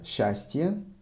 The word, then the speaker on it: счастье: But if you hear счастье, it is счастье. So счастье. SC is pronounced as sh. Счастье.